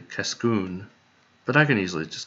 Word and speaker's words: Cascoon: over okay so dammit i just noticed that the emphasis was in the wrong place so that's supposed to be cascoon but i can easily